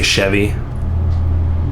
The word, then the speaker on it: Chevy: We'd just say Chevy. Oh, that sounds good. Not Chevy though.